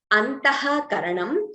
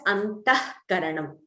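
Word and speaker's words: अन्तःकरणम्: That is Antaha Karanam. We do not chant the Visarga completely. We pronounce it as Antah Karanam.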